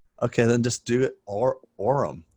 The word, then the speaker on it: Aurum: Aurum. Right. A-U-R-U-M.